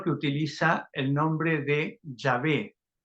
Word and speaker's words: Yahvé: Pronunciamos una variación. Jehová no es la forma correcta. Yahvé es la más correcta.